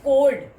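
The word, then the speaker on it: chord: ये चोर्ड नहीं होता, कई स्टूडेंट्स को चोर्ड प्रोनाउंस करते हैं. This is कोड.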